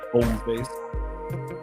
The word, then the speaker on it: Hommeface: The H is silent. That's a silent H there. Hommeface, because it's French for man face.